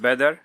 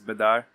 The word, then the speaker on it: Bader: In Arabic, you say it Badr, but the pronunciation for most is Badar or Bader, yeah.